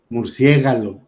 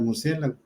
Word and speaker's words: murciélago: incorrectamente la sílaba tónica por ejemplo decir murciégalo ahí ya cambiamos las letras en lugar de murciélago Aunque estos errores No